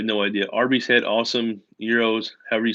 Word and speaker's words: gyro: You're talking about a euro, like a GYRO. I mean, some folks call it a gyro. When you get the Mediterranean, you get the lamb or the beef, whatever. I mean, I think it's supposed to be called a euro, right? But a lot of people call it a gyro. They just say it phonetically.